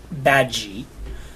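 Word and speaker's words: Badguy: Jes his name is Dominic badgi although it's spelled bad guy um so Dominic bad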